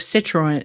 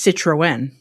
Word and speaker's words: Citroën: pronounce it separately from the vowel that comes before it. So instead of citroen citroen, it's citroen.